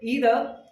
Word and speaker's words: either: actually if I say either this is British accent if I say either it is American accent both are accepted so okay so never